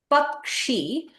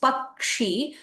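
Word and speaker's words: पक्षी: Okay, you have Pakshi. When you read it as Pakshi, you should feel that you are touching the kakara before you that gives it that sound, Pakshi, right?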